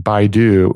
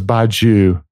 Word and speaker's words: Badiou: it must be Badu because and I was pronouncing it wrong last time because I saying BYU and I looked at his name and it's